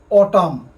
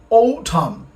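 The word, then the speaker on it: autumn: করে খেয়াল করি রেনি সিজন আগে আমরা বলতাম অটাম অটাম মানে শরৎকাল বাট ইটশুডবি ওঠাম উচ্চারণটা ভালো করে খেয়াল করি ইটশুডবি ওঠাম আগে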